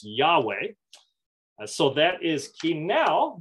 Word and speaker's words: Yahweh: Divine name Yahweh or Jehovah however the J is pronounced like a y in ancient Hebrew so it is Yahweh so that is key